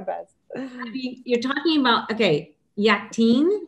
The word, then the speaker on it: Yakteen: Yakteen, is that how you pronounce it? Yakteen, yeah. A beloved edible gourd from Palestine.